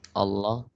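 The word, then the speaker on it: الله: They are saying when do we make the word of Allah heavy? We pronounce it heavy when the letter before the word of Allah has a fatha or dhamma on it.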